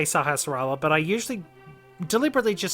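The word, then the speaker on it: Sahasrahla: dirty sakurais is homecoming nobody seems to want to pronounce his name right i know i can usually say sahasrara but i usually deliberately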